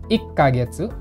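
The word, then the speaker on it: いっかげつ: kurang lebih seperti ini yang perlu diperhatikan adalah 1 bulan 6 bulan dan 10 bulan ada sekecilnya yaitu ikagetsu Rock kagetsu dan kagetsu 3 ini saja yang berbeda kalau yang lain nikah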